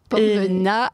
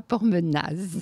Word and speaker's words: Pormenaz: Pormena et pas Pormenaz.